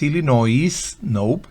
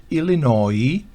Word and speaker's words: Illinois: medio oeste se conocen como Illinois no es Illinois Illinois Indiana Iowa Kansas Michigan Minnesota Ohio South the